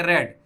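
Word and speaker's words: read: लेकिन रीड का दोनों फॉर्म लिखा था तो वैसा ही, लेकिन प्रोनाउंस रेड रेड करेंगे, रीड, रेड, रेड।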